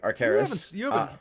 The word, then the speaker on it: Arcaris: It rhymes with your own name, Chris.